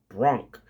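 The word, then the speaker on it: Bronck: so his last name is spelled b-r-o nck Bronk so the Bronx Bronx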